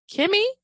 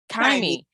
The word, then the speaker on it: Kymmy: your website under Kymmy Kimmy? How do you pronounce it? Kymmy. Okay, Kymmy Wellness. I don't know why I want to say Kimmy when I see it, but okay.